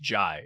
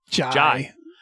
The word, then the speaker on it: Jai: And Jai Courtney, I'm sorry, I keep saying Jay. His name is actually pronounced Jai. It is pronounced like an Australian person saying Jay. Jai.